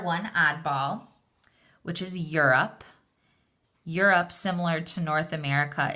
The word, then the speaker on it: Europe: be rope your you it looks like the long o sound but it's an oddball because we don't say it with a long Oh sound we say it with the short u